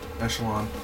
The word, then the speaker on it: Echelon: Hey everyone, it's me, Brian, Echelon, Echelon, that's how you say it.